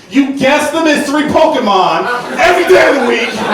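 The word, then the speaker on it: Pokémon: There's no way you actually think it's pronounced Pokemans. You guess the mystery Pokemon every day of the week.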